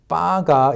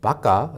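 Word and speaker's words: ばか: People saying 바가 incorrectly instead of the correct baka, the Japanese word for 바보, which is idiot, is not because of the emphasis of the insult.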